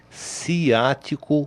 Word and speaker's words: ciático: A pronúncia certa do nervo é ciático com C de casa, como perguntam muitas vezes.